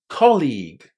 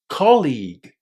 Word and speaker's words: colleague: The stress in this word falls on the first syllable. Listen. Colleague. Colleague. Make sure you don't stress the second syllable here.